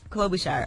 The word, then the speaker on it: Klobuchar: Klobuchar.